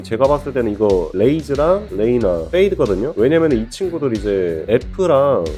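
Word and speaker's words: Reyna: 넣는다 생각하시면 돼요 웨이즈에다가이 친구도 웨이나에서 레이나 알바를 넣어서 레이나 이런 식으로 애를 왜로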